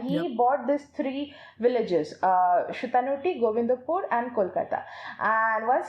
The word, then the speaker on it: Sutanuti: Shutanuti, I cannot call it Sutanuti. I'll just call it Shutanuti. Okay, that's how we pronounce it.